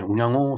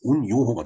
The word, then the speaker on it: 운양호: 바와 같이 이렇게 쓰는데 이것을 일본어로 읽으면은 운요호가 됩니다. 운자는 이제 발음이 똑같은데 우리가 양어로 읽는 걸 사람들은 요라고 읽는 경우가 이제 대부분이죠. 그래서 운양어는 운요호라고 있습니다. 자, 어찌됐든 우리나라에서 일어난 사건이기 때문에 이걸 운양호라고 우리 발음대로 호칭을 하겠습니다.